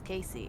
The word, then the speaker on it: Casey: My name is Casey. It rhymes with spacey.